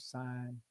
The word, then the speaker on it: sign: And I always use the word sign si g n the g is silent and is seen.